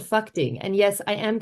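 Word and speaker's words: Phakding: these big glacial rivers to a place called fuing and yes I am pronouncing that correctly then you kind of hug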